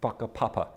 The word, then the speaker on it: whakapapa: It's a bit like, in Maori culture, there's this concept of whakapapa, spelt with a WH, though WH is pronounced with an F in Maori.